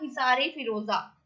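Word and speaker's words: Hisar-e-Firoza: पहले इसका नाम था हिसार फिरोजा, हिसार फिरोजा, जिसको प्रोनाउंस ऐसे किया जाता था हिसार ए फिरोजा, हिसार ए फिरोजा, जिसका मतलब है फोर्ट ऑफ फिरोज, मीन्स फिरोजा का किला, फोर्ट ऑफ फिरोजा।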